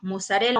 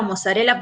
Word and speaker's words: mozzarella: concepto lo que decimos mozzarela mozzarella porque se puede pronunciar de las su origen italiano y nosotros también lo